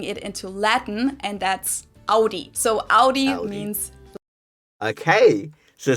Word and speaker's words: Audi: brands one is adi most americans that i know pronounce it like i just said it audi in german we say audi oh yeah we say